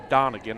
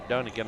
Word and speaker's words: Donegan: And of course, and I think her name is actually pronounced Donegan, and I say Dunnigan.